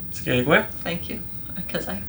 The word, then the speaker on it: Skagway: Skagway. Thank you, because I pronounce it wrong or 3 different ways all the time.